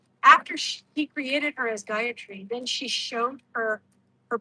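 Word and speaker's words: Gayatri: our purposes you know guyatry is pronounced a little differently than you might hear it uh on YouTube. Uh normally people will pronounce ora yeah don't do that. Three separate and equal syllables.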